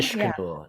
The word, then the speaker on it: Ixcanul: One of my favorite films that we actually ended up screening was Ixcanul. Is that how you say it again? Ishkanul. Yeah. Ishkanul, right. That's the Mayan. It's the it's Mayan word for volcano.